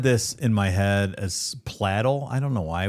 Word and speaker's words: Pladl: Anyway, it actually rhymes with ladle. So, Steven Platel.